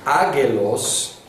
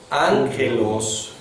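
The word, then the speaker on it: ἄγγελος: En griego, cuando hay doble gama, se pronuncia como NG. NG. Entonces es algo que no hemos visto, pero cuando es doble gama, en lugar de ágelos, ho, es ángelos, ho, lo cual explica por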